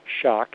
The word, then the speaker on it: Schoch: all one word Robert Schoch and it's spelled ro be ERT Robert SCH och calm WW Robert Schoch and that's s CH for shock SCH o CH for